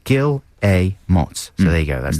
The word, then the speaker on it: Guillemots: guillemots some people say gilmo gilimel i say kilomots yeah it says underneath pronounced gil a motz so there you go